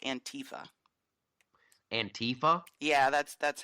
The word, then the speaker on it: antifa: a nickname I have a contest it's actually pronounced antifa and Tifa yeah that's that's how it even